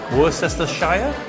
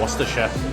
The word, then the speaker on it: Worcestershire: of the English language which is how you pronounce it so Liam parents is it worse as the Shire or Worcestershire and it's of course a Worcestershire that's how you pronounce it if you ever